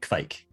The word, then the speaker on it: Kveik: Have you had a Kveik beer, Don? And I'm pronouncing it correctly, right?